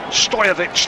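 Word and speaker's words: Stojković: it's going to be Stojkovic now who is going to take the free kick, edge of his own penalty area. Stojovic, the actual Serbian pronunciation, and the referee brings the first half to a close.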